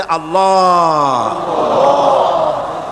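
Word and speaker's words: الله: আল্লাহ পাকের উচ্চারণটা হচ্ছে, আল্লাহ পাকের নামের উচ্চারণ হচ্ছে আল্লাহ। মুখটা একটু গোল হয়ে যাবে, বলেন আল্লাহ আল্লাহ সুবহানাল্লাহ।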